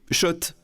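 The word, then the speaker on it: Schott: Oui Shot et pas Scott. Ça fait des années qu'on prononce mal la marque.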